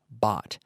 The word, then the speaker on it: bought: The pronunciation is like ought. So you have to train your brain that those sounds are the same.